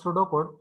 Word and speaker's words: pseudocode: आता याचं if I pronounce pseudocode but here p is silent.